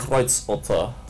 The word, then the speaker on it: Kreuzotter: Actually, can you pronounce again your camo pattern properly? Kreuzotter.